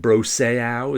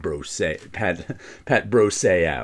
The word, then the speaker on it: Brosseau: So now I say it like Bro and Junior Seau.